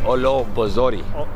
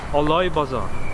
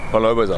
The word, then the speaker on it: Oloy Bazaar: How do you say Olo Bozori? No. Look, Oloy Bazaar. Oloy Bazaar. Yeah, it's how it's pronounced.